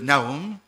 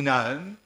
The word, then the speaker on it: Nahum: Et je prends avec vous le livre de Naum ou Naam en fonction qu'on le prononce. OK. Voilà, vous l'avez vous avez sous les yeux. Na ou Naom, il faut savoir se rappeler que euh les voyelles n'existent pas en hébreu, hein. Donc la prononciation c'est faite par euh habitude, ça se transmettait oralement